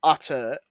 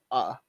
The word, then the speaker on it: otter: What I take out is the T's. Yeah. I want an otter. I want an otter. Wah! I want an otter. Not otter. Otter.